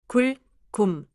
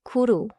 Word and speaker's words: 굶: ends with closed lips 굶 완벽해요 don't say 구루 or 구무 no extra sound after the b침 let's compar침면 받침